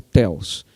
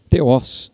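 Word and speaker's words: θεός: Ou theos, mas no grego, né, a pronúncia é na oxítona, theos, né?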